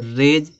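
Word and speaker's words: rays: यहाँ देखो रेज में देखो वाई है, तो वाई के बाद यस आया है तो रेज, यहाँ पे यस का उच्चारण जा निकल रहा था, रेज माने किरणें होता है।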